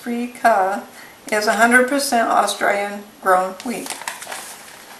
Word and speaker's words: Freekeh: Because the only ingredient in it is, let's see, green wheat Freekeh, pronounced Freekeh, is 100% Australian grown wheat.